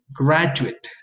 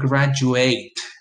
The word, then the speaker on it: graduate: in this case it's a it's an adjective graduate graduate it it at the end versus the verb graduate graduate so you can say things like he's